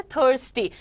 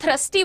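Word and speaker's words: thirsty: थर्स्टी को लोग थ्रस्टी बोलते हैं बहुत बार, है ना, थ्रस्ट बहुत अलग चीज होती है, थर्स्टी इज प्यासा। सो हाउ डू you pronounce it, थर्स्टी। जैसे 30 बोलते हो ना वैसे थर्स्टी कर दो उसको वहां पर।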